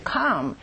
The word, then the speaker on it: calm: A claim must be calm and polite，那么写这个索赔信呢，你必须是 calm，是很沉着的，各位注意这个 L 是不发音的啊，同时非常的礼貌。